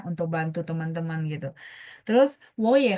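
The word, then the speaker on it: 我也: Jadi ketika nada tiga ketemu nada tiga, maka depannya berubah jadi bacanya nada dua. Berubah baca, tapi tandanya tetap tiga teman-teman ya. Makanya 我也, 我 jadi dua, iye-nya tetap.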